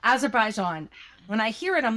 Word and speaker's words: Azerbaijan: As Azerbaijan Azerbaijan. Azerbaijan.